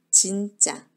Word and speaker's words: 진짜: 이거는 영어식 발음 거죠 입술을 오므리는 영어식 발음이 고 1국어 에지 웃은 입술을 오물이 지 않아요 진짜 입술을 오므리며 넌 준